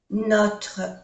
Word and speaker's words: Notre: Notre école, no se pronuncia la E.